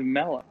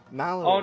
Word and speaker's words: Mallow: Well, yeah, why else would he be named Mellow?